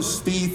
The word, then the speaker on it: Spieth: Spieth speak okay I got to get the pronunciation right jordan Spieth has we change the way people putt in